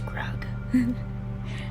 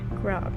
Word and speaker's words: Grog: His name is Grog. Grog rhymes with Greg.